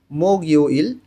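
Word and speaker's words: 목요일: গিয়োগটা ইয়ংয়ের স্থানে গিয়ে উচ্চারণ করতে হবে মোগইউইল বৃহস্পতিবার।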